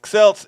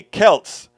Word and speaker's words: Celts: i like alberto willis celts is pronounced with the k celts forgive me please didn't